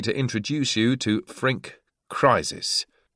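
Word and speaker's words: Kriezis: Allow me to introduce you to Frank Crisis. Sounds like Crisis, but you spell it K R I E Z I S.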